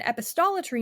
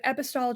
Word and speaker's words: epistolary: Fantastic Land is an epostometry novel. I'm probably pronouncing that wrong. I have a really hard time saying episto because of my list, but Epistolary novel.